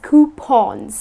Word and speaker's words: coupon: Now people tend to pronounce it coupons but its not coupon - it is 'Cu-pawn' Something like this,it rhymes with lawn or Shaun.